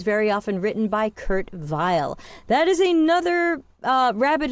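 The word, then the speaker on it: Weill: often written by Curt Vile. That is another uh rabbit hole you can go down on YouTube. Kurt Vile. Vile is spelled W I L.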